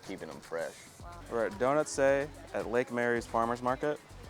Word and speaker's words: Donutste: Okay, that's what we thought, but I didn't want to say it and pronounce it wrong. Donutste.